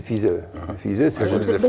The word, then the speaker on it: Pfizer: On ne prononce pas le P, hein, c'est Pfizer.